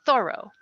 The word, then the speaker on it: Thoreau: more accurate one is thorough with the accent on the first syllable the second example is